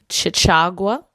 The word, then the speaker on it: Chachagua: That was before they told me the correct way to pronounce it. It is Chachagua Resort and Hot Spring.